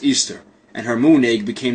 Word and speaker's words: Ishtar: Semiramis became known as Ishtar which is pronounced Easter and her moon egg